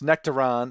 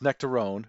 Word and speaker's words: Nectaron: Though you might hear me mispronounce Nectaron as nectarone due to my Midwest accent, it might seem to take its name from the nectarine.